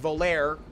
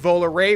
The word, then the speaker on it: Volare: whole life I pronounced Volare because that's how it's spelled gosh darn it but it's actually pronounced vowel array which is a you